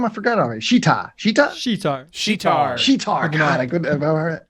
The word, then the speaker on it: Sheetar: Sheetar.